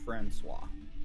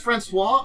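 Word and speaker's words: François: So also you pronounce you you pronounce it Francois. Oh that's Francois. Oh god. It's like when you say Franis I can say C is the little C there is pronounced differently. Yeah it's like an S w and then you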